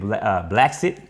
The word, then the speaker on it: Blexit: She even started a thing that said Blacksit. Blacksit is spelled Blexit, basically saying that black people lead a Democratic race and come to the conservative side, which is the Republican race.